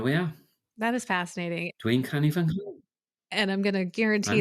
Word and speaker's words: Dwi'n canu fy nghân: So it's Dwi'n canu fy nghân. Dwi'n canu fy nghân. I'm singing my song. And there's what's called a nasal mutation in there.